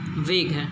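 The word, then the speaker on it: vague: कई लोग इसे वैग्यू पढ़ते हैं, ठीक है वैग्यू भी ठीक है, लेकिन इसकी सही प्रोनाउंसिएशन जो है पढ़ने के लिए वेग है।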